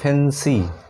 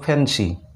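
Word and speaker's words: fancy: উচ্চারণ ই হয়, এবার ওয়াই যখন শেষে থাকে শব্দের সেক্ষেত্রে কিন্তু ওয়াইয়ের উচ্চারণ ই হয়, যেমন এফ এ এন সি ওয়াই, ফ্যান্সি, এটার উচ্চারণ কিন্তু ফ্যান্সি, ফলাকা দন্তে নয় দন্তে ছয় রস্যই, ফ্যান্সি।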